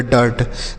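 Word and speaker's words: dirt: उसके बाद डी से पढ़ेंगे ड, यू का उच्चारण अ के रूप में, आर से र, टी से ट, यह हो गया डर्ट।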